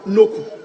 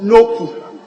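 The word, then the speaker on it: Nokoe: Right, Honorable Speaker, my name is Kofi Akun Noku. Kofi Akun what? Noku. Noku pronounced as in a U. Okay. N-O-K-O-E, but it's pronounced Noku.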